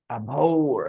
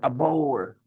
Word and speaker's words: abhor: H is silent. Abhor. Actually. ABHOR. Hmm. AB. ABHORE. Abhor. All these words have the same meaning. ABHORE. Abhor. Also, उसमें E नहीं abhor में. Okay. Actually, H is pronounced abhor and abhor both. Okay. So you can pronounce H if you want, and you can leave H out as well in terms of pronunciation.